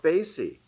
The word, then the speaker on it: Basie: Because I mispronounced it once and Count now I've been. Basie? Count Basie.